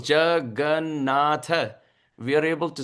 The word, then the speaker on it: Jagannatha: The four syllables, Jagannatha, we are able to say so easily because no love in the heart.